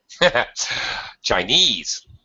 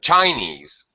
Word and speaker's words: Chinese: Chinese Japanese Portuguese no Chinese not Chinese Chinese you need to say this bold part louder stronger higher pitch stretch The Vow Chinese Chinese yes Japanese